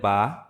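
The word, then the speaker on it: ب: দুই ঠোঁটের যে ভিজা অংশ, সেই ভিজা অংশ থেকে উচ্চারিত হবে বা।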